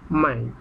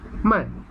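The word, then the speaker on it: maj: MA তো আছে, শেষে ওয়াইটের জায়গায় যে মাই উচ্চারণ হয়, মাই। তাহলে কি হয়? মেকে আমরা কি বলি? মাই, মাই, মে, মাই, মাই।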